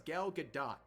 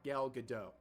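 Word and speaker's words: Gal Gadot: for months and months turns out it's gal Gat not gal gadoo but anyways uh you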